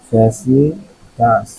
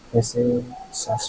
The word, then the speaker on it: facetious: ফেসিটাস, এফ এ, আরে ভাই কি করতেছে, ফ্যাসিটাস না ফ্যাসিসিয়াস, ফ্যাসিসাস, ফ্যাসিসাস, ফ্যাসিটাস বলতেছিলাম, ফ্যাসিসাস, ফ্যাসিসাস।